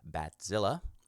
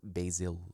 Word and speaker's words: Bazille: we are looking at Equinox for you he bat Zilla there's some confusion about how the title of this synth is pronounced it is bat Zilla as in a giant mutant bat that terrorizes